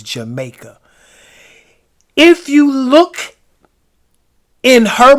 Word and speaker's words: Jamaka: If you look, it is spelled, it looks like Jamaica, but it's Jamaica.